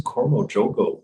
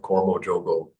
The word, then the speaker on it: Karma Yoga: yogas what is this cormo joogo that he's talking about and Greg told me that's Karma Yoga they call it cormo joogo so just like my